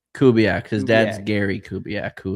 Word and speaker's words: Kubiak: Clint Kubiak, I believe he was the quarterback coach for the Vikings. Yes, a few years ago. Yeah, something. How do you say his last name? Kubiak.